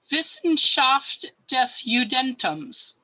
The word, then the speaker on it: Wissenschaft des Judentums: And yeah, yeah, Beth, you want to unmute yourself and pronounce it? Wissenschaft something. It's Wissenschaft des Judentums.